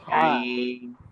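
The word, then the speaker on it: ع: এই যে দেখেন এখানে চিহ্ন দেওয়া হয়েছে ছবির মধ্যে, দেখেন ফলকের মাঝখানের একেবারে যে শক্ত জায়গা, সেখান থেকে হা এবং আইন, হা, আইন, জি আইন, হা।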